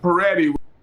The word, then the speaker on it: Pretti: Also, like every double consonants, if you have a double T, you need to take a small break before you say the sounds and prolong the sound itself.